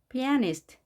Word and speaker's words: pianist: pianist. 자, 이 단어는 에의 강세가 있습니다. 그래서 자, 여기를 떼어주고 pianist. 이렇게 발음을 합니다. 우리말로는 물론 피아니스트라고 하지만 피아가 아닌 영어 발음은 피에로 발음합니다.